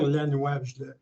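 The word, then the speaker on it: Lanoix: J'ai vraiment un truc infaillible parce que mon nom, c'est Lannoy. Ça s'écrit vraiment L-A-N-O-I-X.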